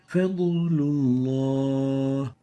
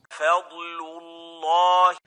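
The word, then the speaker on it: فضل الله: The fourth mistake is mixing the sound of the Dhad with that of a sound of nasalization, giving it gunna. Fadlullah.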